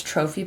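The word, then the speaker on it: trofie: used the Trader Joe's trophy pasta t r o f i e I think that's how you say it instead of orzo because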